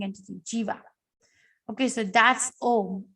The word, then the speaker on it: Om: The Om is made of three syllables, A, U, and Ma.